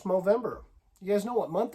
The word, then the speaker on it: Movember: No, I'm saying it right. It ain't November, it's Movember.